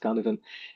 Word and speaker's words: Cynefin: I don't know if you're familiar with Cynefin, written Cynefin, but it's pronounced Cynefin.